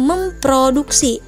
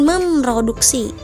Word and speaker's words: memproduksi: r bukan huruf vokal Jadi dibacanya memproduksi bukan Memroduksi yang ketujuh ada mempraktik